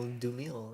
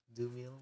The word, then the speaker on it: Dumile: Doomil. Like Doom. Oh, that makes sense. Yeah, right. I thought it was just because he liked Doom. Even though it's spelled like Dumile, but Doom.